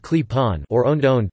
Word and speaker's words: Klepon: clapping pronounced clip-on or owned own pronounced